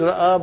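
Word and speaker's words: رأى: What is ra'a, brothers and sisters? To see. Now, I say ra'a. I say ah. Okay? I'm making the pronunciation of alif here. Ah.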